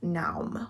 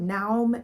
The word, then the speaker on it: Naum: In this book, we are following 16-year-old Naum, which is apparently how you say his name. I looked it up because I was like, I have no idea how to say this, but Naum is apparently the way you say it.